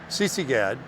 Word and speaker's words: Sisigad: CC GAD.